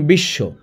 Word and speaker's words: বিশ্ব: যেমন বিশ্ব এখানে স এর ডাবল হইছে। বিশ্ব এখানেও স এর ডাবল হয়েছে বা দত্ত হয়েছে।